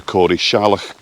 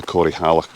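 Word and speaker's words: Corrieshalloch: I've already had somebody tell me that it's the Cory Shallock Gorge, not the Cory Halak Gorge like I've been saying.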